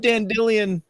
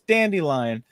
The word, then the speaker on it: Dandelion: together and I love Dan dillian or dandelion I love that you say Dan dillian because that's how they say it in the auto audio books I know 10 billion